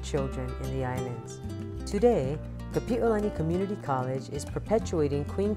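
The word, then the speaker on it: Kapiʻolani: Today, Kapi'olani Community College is perpetuating Queen Kapi'olani's legacy in a number of ways.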